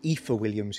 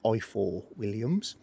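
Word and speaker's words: Ifor Williams: eiffel williams trailer uh ether williams is a correct pronunciation but everybody still says eye for williams and it's an indispension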